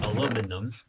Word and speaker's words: aluminum: I need aluminium, or aluminum. Pixelmon used to call it aluminium, I believe. So, that's why I'm used to saying aluminium. But I think they renamed it to aluminum recently.